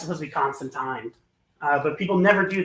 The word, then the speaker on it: Constantine: Constantine or Constantine as it supposed be properly pronounced but oh um yeah it's supposed to be constant time uh but people never do that so um